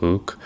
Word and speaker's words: LIWC: The core aim was to test whether LIWC or pronounced as Luke a psych whether its